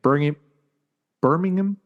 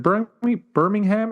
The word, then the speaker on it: Birmingham: Also this past weekend from the Resorts World Arena in Birmingham. Is it Birmingham or Birmingham?